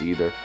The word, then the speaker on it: Ether: So, it says, hold up the Master Sword and you will get the magic of Ether, or Either, whatever. I think it's Either, yeah, it's supposed to be pronounced Either.